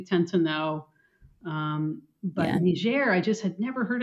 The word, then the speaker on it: Niger: in the Republic of ner which is a French pronunciation um English might pronounce it Niger uh which is sort